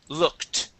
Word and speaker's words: looked: And last word is looked. Looked. Look. We pronounce the T. Okay. Nice job. Yeah. Thank you. Yes, we pronounce the ED like a T.